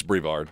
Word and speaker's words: Brevard: It's Brevard. Brevard County. A uh a math teacher there has lost her job. She is accused of having a sexual relationship with a student. The Brevard County School Board voted unanimously to terminate the